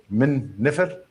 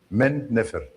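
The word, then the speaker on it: Men-nefer: Memphis is uh Min Nefer and the Greeks pronounce it Memphis. Min Nefer.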